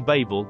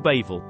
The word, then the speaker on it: Babel: was called Babu gate of God Hebrew form Babel or Babel the similarity in pronunciation of Babel and Bal to confuse led